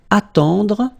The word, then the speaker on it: attendre: Then attendre, attendre. Remember, final you don't insist on it, it just gives you the possibility to pronounce the dr.